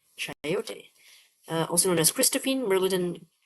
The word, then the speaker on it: chayote: How do we pronounce this? Chayote. Chayote.